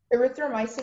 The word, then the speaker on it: erythromycin: Erythromycin is the only pronunciation.